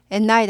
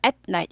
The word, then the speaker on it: at night: at night 아니고 at night. 여기 스타카토 있어야 되죠.